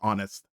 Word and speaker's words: honest: like you literally just like in French where you just ignore the H sounds like honest B honest but it's just honest honest like just without